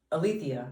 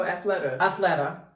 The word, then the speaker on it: Athleta: So Allison Felix, she's actually another Olympiad, partnered with Alethea, is that how you say it? Oh, Athleta, to make sure that women who are Olympics?